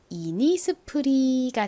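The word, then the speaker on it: Innisfree: 나죠 한국식으로는 프라고 표기합니다 그다음에 끝부분 R 어떻게 읽나요 아은 리을 소리 그리고이는 긴이 소리가 나죠 그래서 읽어보면 이니스프리가 됩니다 이니스프리이 이름에서요 부분 있죠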